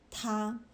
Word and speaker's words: 它: So the thing about pronouns in Chinese is when you're saying him or her or it, they're written differently, but they're all pronounced ta.